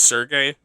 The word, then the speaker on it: Sergey: And I don't know how I know how to pronounce this. It looks like Sergey. I know it's Sergey.